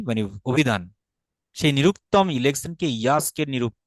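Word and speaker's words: यास्क: সেই নিরুক্তম ইলেকশনকে ইয়াস্কের নিরূপ, তাহলে আমরা উচ্চারণ করতে হবে ইয়াস্ক, জাস্ক হবে না কিন্তু, জ হবে না, এটা জ সাউন্ড না, এটা হবে ইয় সাউন্ড, ইয়াস্ক। সবাই কি বুঝতে পারছেন নাকি জটিল হয়ে যাচ্ছে?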